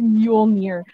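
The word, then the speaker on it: Mjölnir: movies meow does make sense but the correct pronunciation is mule mir which is thor's hammer which by the way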